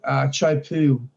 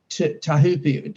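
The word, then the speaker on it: Teahupoʻo: And after that, they go to a place called Chopu, which is Tahupi. Oh, it depends on how you want to pronounce it. It's in, we call it Chopes.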